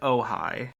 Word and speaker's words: Ojai: And now we go on to Ojai, which is pronounced Ojai.